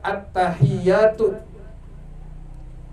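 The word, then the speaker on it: التَّحِيَّاتُ: kurang apa yang pertama attahiyatu yaitu pada kalimat attahiyat Al Wal ya pada huruf ta dan huruf ya tuh ada di kitab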